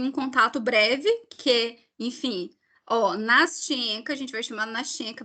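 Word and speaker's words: Настенька: Mas já tem gente que pronuncia Nastyenka, tem gente que pronuncia Nastionka. Tipo, então a pronúncia também vocês vão encontrar de tudo que é tipo de jeito aí pela vida fora. Mas a gente vai chamar Nastyenka. Enfim.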